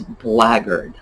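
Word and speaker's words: blackguard: rather old english word so the word is blaggered and it comes from as you see black guard the origin has to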